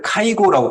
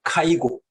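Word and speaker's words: 介護: 일본에서는 개호를 카이고라고 발음해요. 카이고. 케어는 케아.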